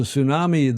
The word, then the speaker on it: tsunami: He says, "A tsunami. The T is silent.